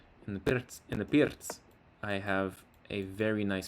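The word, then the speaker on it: Pirc: And then the Pierz, it's actually pronounced Pierz. In the Pierz, I have a very nice plan to go on f5 because of this knight that's preventing this bishop here.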